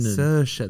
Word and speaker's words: Saoirse: Saoirse, that's it.